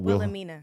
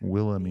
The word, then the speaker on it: Wilhelmina: Wilhelmina. Wilhelmina.